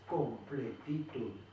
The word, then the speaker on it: completitud: Si nosotros separamos la palabra completitud en sílabas, es completitud. Completitud. Es una palabra aguda.